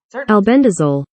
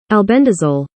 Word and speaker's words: albendazole: And this is, I'm going to go to my pronunciation. Albendazole. Albendazole.